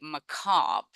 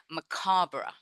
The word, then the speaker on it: macabre: So Americans would say macabre, and the British would say macabre. So either are correct.